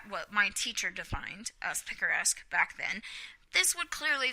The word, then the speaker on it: picaresque: That's how he pronounced it, picaresque.